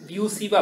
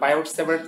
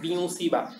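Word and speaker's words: Biot–Savart: দেখো Tesla, Lawrence force, বিউসি বা ল, commonly যদি আমরা বায়োট সেভার্ট ল বলি, অ্যাকচুয়াল প্রোনাউন্সিয়েশন কি বিউসি বা, তো বিউসি বা ল, এম্পিয়ার ল অথবা হ্যাঁ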